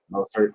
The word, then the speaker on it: Mostert: Mostert, yeah.